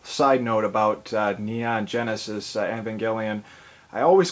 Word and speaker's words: Evangelion: of it but uh it looked like evangelon to me but Evangelion I guess is the correct way to say it but uh regardless uh